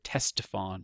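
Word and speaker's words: Ctesiphon: can see right here teston you don't hear the C when you pronounce it uh this is the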